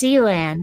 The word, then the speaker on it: Sealand: Actually, it is pronounced Sealand. I asked. But it is spelled Sealand, one word. Yeah, but the people who own and run it told me how they pronounce it. So I'm going to pronounce it their way because I'm pretty sure they would know.